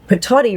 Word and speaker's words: patati: That's me saying patati rhymes with hottie, so it's a hottie patati.